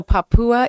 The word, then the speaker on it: Papua: to go to uh how do you say it right because I know I've been saying it wrong the country oh Papua Indonesia okay yeah and uh so